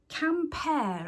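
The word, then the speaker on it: Quimper: Camper, I think it's pronounced. Spelt Q-U-I-M-P-E-R.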